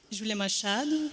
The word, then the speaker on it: Júlia Machado: So Júlia Machado, how do you pronounce it? Júlia Machado.